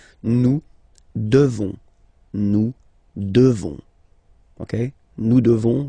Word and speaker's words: devons: Classic ending ONS for nous. Okay? You just pronounce this on, on, this nasal. Okay? And then the S, final S is not pronounced. Nous devons.